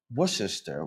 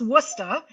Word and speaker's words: Worcester: If you were born here, it's Worcester, which means there's no R at the end.